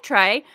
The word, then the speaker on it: Trey: know you were gay Trey um no I'm not I just like books yeah well that's how starts also my yeah also my name rhymes with gay so like I like